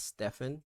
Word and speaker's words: Stephen: actually pronounce with the it is pronounced as Stefan always ask like how